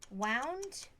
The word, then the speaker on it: wound: Okay, so wind, air, okay. So twist is wind, and the past tense is wound.